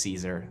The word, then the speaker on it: CZUR: I think it's pronounced Caesar. I've heard people say C-Z-U-R or Caesar. I'm sticking with Caesar.